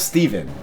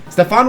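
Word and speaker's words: Stephan: Here we have Steven. Every time I make that joke, I get so many comments saying that I'm saying it wrong. And listen, I know it's a Steon. I'm not stupid. Stefan was a recurring rival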